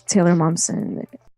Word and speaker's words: Taylor Momsen: It's Taylor Momsen. That's how you pronounce her name.